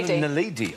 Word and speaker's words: naledi: Nadali. Homo nadali. Yeah. Nadali. Excuse me, Homo naledi.